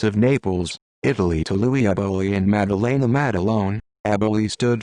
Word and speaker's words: Eboli: Thomas, Tommy Ryan Eboli, pronounced Eboli, June 13, 1911 Siciliano, Italy.